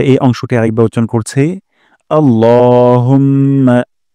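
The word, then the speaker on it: اللهم: করি প্রথম শব্দটি হলো আল্লাহুম্মা এখানে ল এক আলিফ টান দিব এবং লা বলা যাবে না আল্লাহ বলবো না আল্লাহুম্মা হে আল্লাহুম্মা হে আল্লাহ আপনারাও আমার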